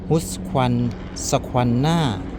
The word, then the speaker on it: Husqvarna: ยี่ห้อ นี้ นะ ครับ อ่าน ว่า อะไร อ่ะ ฮุ คัน squ หน่า นะ ครับ ไม่ รู้ ออก เสียง ถูก มย